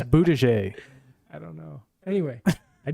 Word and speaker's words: Buttigieg: Moutier. That's not how you say it. Buttigieg. People call him Buttigieg? Booty gay because he's almost, that's like No, I'm not, I know that, but it's Buttigieg.